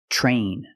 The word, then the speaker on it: train: When you have TR together in any situation, you can pronounce it ter, but usually we don't. We pronounce it ch plus the R sound, chur. Example, train, truck, tree, and travel.